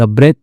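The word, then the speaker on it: breathe: द ब्रेथ ठीक है? तो आ ओके। ब्रेथ नहीं पढ़ेंगे।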